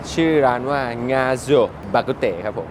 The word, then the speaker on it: Ng Ah Sio Bak Kut Teh: The place is pronounced as NG AH SIO BAK KUT TEH.